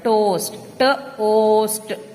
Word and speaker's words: toast: ode road host toast here also we don't listen to the sound of a we listen to the name of the letter o while pronouncing the word toast toast the next word is